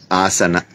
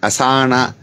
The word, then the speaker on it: asana: he mentions the word asana ah is long asan it's not asana you have all these